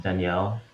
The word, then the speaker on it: Daniel: so everyone knows um name is spelled daniel but uh it's pronounced danielle which is how we say it in philippines um but it's all